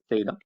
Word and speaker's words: theta: little symbol that you see down there it's pronounced theta all right and it goes like this it's